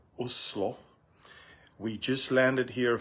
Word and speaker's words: Oslo: I'm in Oslo or the way the locals say Oslo.